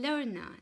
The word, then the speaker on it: learn: Vous avez aussi learn, d'accord, EA, également apprendre, d'accord.